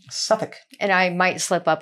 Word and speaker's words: Suffolk: about doing this episode Suffolk like it's not like Suffocation it does I think